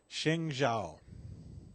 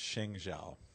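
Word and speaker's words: 生肖: But I think it's pronounced Sheng Zhao.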